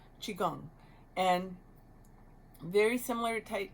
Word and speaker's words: Qigong: It's spelled Qi is one word, and the next word is Gong, Gong, and you can pronounce it a couple different ways, but Qigong.